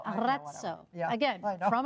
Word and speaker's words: Arezzo: Roll your R. Yeah, Arezzo. Arezzo.